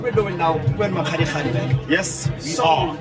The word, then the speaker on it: Makgadikgadi: And sometimes I feel like we mispronounce it by calling it Makgadikgadi, and then it doesn't have meaning to it. But can I get it for the last one? Yeah. It's Makgadikgadi So you hear that?